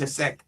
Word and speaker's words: Taoiseach: Ireland's president, Kathleen Connolly, and Taoiseach, that's how it's pronounced, Taoiseach, which is basically president or prime minister, Michael Martin, were represented at the service at St.